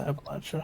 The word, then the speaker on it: Appalachia: It's pronounced Appalachia.